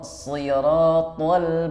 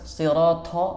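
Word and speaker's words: صراط: Ihdinas siratal mustaqim. Nah, huruf to juga sama. Banyak yang membacanya hamas sirato. Itu kurang tepat.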